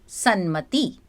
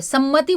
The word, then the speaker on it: सन्मति: तो तत प्लस मयंम तन्मयम सद प्लस मति सन्मति। लोग पता है इसको क्या गलत प्रोनाउंस करते हैं। सम्मति बोलते हैं। That is wrong.